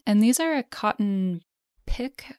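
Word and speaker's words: piqué: these are a cotton pick I believe is how it's pronounced p i q u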